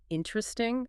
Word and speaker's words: interesting: When I see a long word like interesting, I naturally want to say all 4 syllables. Interesting? But native speakers say it so much faster. Can I just say interesting?